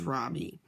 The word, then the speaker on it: Ravi: Ravi, Miss Beam has been calling him Ravi, but when he introduced himself earlier, I'm pretty sure he said his name was Robbie, with the accent on the second syllable.